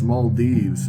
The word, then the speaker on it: Maldives: it it's in English it would be yeah Maldives but I'm pretty sure it's Mal Dives but I'm not sure okay uh I'm going to type in pronunciation here we go males males I